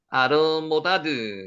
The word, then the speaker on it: 아르모다드: 알모닷과 셀렙과 하살마웻과 예라와 알모닷, 아르모다드 이런 뜻입니다. 이름의 뜻은 확인되지 않습니다. 자, 남부 아라비아 예멘 쪽의 조상으로 추정이 됩니다. 알르모다드, 요 라메드가 앞에도 뒤에도 두 발음이 나는 거죠. 리을이 알르모다드.